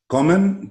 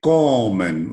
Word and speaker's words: kommen: Kommen takes the accent on ko. Okay? We say kommen. We don't say kommen.